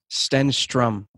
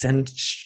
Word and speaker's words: Stenstrom: Stenstrom. Jesus. Stenstrom. Like strumming a guitar. Strum.